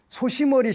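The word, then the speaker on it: 牛頭: 이런 신앙도 있고 그 일본에 가면은 소시머리 신앙이라는 게 있대요. 소시머리라고 읽는데 한자로 우두라고 읽는데 그 발음은 소시머리라고 하는데 이게 무슨 뜻인가를 일본 사람들 보는데 소위머리인데 소시머리라고 이렇게 읽더라는 거 우두라고 써놓고 이게 한국에서 건너간 거겠지 당연히.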